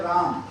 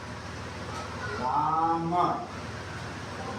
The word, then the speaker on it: राम: तो आप लोग उसको रामा पढ़ते हैं, जबकि वो राम। क्या है वो? राम।